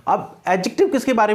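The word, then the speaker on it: adjective: बता चुका हूं कि इसका प्रोनाउंसिएशन जो है एडजेक्टिव करना है, एडजेक्टिव नहीं करना। आपको ये ध्यान रखना है, मोटे तौर पर आप ये ध्यान रख लीजिए कि जहां पर भी डी और जे का कॉम्बिनेशन होता है वहां डे को प्रोनाउंस नहीं किया जाता, वहां क्या प्रोनाउंस किया जाता है, वहां जे प्रोनाउंस किया जाता है। इसलिए हम इसे कहते हैं एडजेक्टिव।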